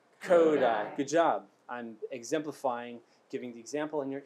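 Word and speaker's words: Kodály: kodai method it's present it's pronounced code i codai try with me coda try it again kodai good job i'm exemplifying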